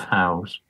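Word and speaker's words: haugr: So this is some example of Howe's. And they're all over Yorkshire. And quite why I didn't cotton on to this before, I don't know. So wait, Howe is how you pronounce that? H-A-U-G-R? Yeah.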